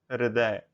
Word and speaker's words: हृदय: हृदय, ह के पैरों में र पड़ेगा, हृदय, इसका सही उच्चारण होगा हृदय।